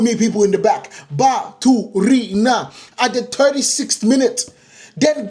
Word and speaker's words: Baturina: Pronounce his name. Baturina. Say it with me, people in the back. Baturina.